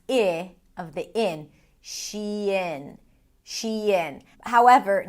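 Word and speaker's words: Shein: And people tend to pronounce it as shine, as in shine on, you crazy diamond.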